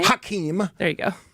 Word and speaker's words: Hakeem: Hakeem. There you go. What did I say? Hakeem. You added a syllable.